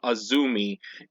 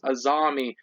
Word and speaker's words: Azami: a tier I know I call him Azumi and people telling me Oh no that's not the way how you cut how you say his name his name's azami or something like that let me let me